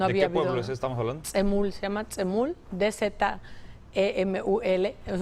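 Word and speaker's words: Dzemul: Tzemul, se llama Tzemul, D-Z-E-M-U-L. Es un poco difícil de pronunciar.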